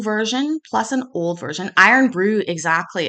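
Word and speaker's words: Irn-Bru: contain iron and so they changed the spelling to i-r-n-bru and it is an acquired taste I'm told I mean I was raised on iron Brew it's bright orange nonsensically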